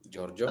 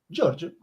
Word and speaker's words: Giorgio: ¿Cómo se debe decir Georgio? Georgio, Giorgio, así lo decimos, Giorgio, Georgio, está mal dicho, John Toro, si nos puedes decir, por favor.